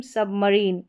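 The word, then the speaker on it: submarine: फिर यहाँ पर है रेजीम, रेजीम सबमरीन, और ये है मरीन, इनको आप प्रोनाउंस करके पढ़ लें।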